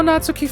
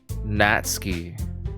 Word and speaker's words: Natsuki: pronounce natsuki correctly but in Japanese it's pronounced the way I typed it natski I'm Asian so I'm